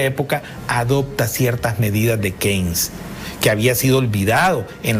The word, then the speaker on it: Keynes: de Cambridge, un acomodado, de apellido Keynes se escribe, pero se dice Keynes.